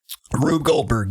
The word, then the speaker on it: Rube Goldberg: Rube Goldberg. Rube Goldberg, yeah.